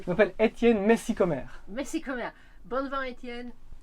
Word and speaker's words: Messikommer: Je suis incapable de prononcer. Je m'appelle Étienne Messicomer.